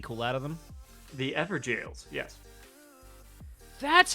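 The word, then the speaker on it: Evergaol: The Ever Jails, yes.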